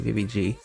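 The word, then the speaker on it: VIVIZ: have pop up by vivise I think it's actually BBG BBG which is their hangover pronunciation but I'm gonna say vivis anyways but we have this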